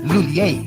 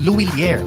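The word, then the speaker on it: Lhuillier: English speakers commonly pronounce it as Lulier. But for Filipinos, mas madaling ibigkas ang Luilier.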